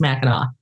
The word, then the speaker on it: Mackinac: So it looks like Mac, but it's all pronounced Meno.